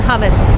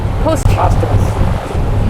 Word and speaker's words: posthumous: So one day when I was like in my 20s, there was a post, how do you say it? Humus or hummus? Posthumous. Neither of what I said.